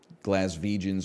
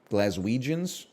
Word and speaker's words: Glaswegians: Glaswegians were feasting. That's probably not how that's pronounced, right? Glaswegians? Glaswegians? No, you got it right. Is it with a V or a W? It's with a W.